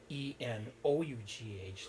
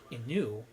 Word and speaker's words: enough: through a ball but you don't pronounce e-n-o-u-g-h like Inu you pronounce it enough and it just tells